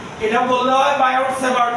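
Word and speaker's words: Biot-Savart: না এটা বললে হয় বায়োসেভার্ট ল এখানে বলে টি সাইলেন্ট তাহলে সেভার্টের টি ও সাইলেন্ট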